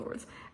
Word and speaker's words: swords: the ace of swords why do i pronounce the w you don't pronounce the w um and then for the two of the words we have uh i'm